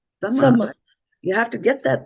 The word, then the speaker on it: samavetā: You have to apply the same principle, right? Yes. If it was dharma over here, then why should it be sam? Why should this be called sama?